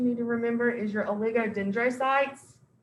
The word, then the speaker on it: oligodendrocytes: to remember is your oligodendrocytes lots of syllables there lots of vowels okay oligodendrocytes all right so just break it up oligo dendro okay your lego dendrocytes